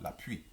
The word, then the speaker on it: l'appui: L'appui, on ne prononce pas la L. Moi, je crois que sinon, je avait laissé la L. Et non, on ne prononce pas. L'appui.